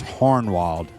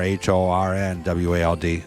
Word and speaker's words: Hohenwald: in Linden Tennessee is hornwalled with an R h-o-r-n-w-a-l-d so hornwald is how you pronounce it so you know hornwald